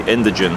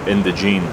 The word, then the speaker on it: Indigene: now and start the indigen political party or indene whichever way you wish to pronounce it um the word itself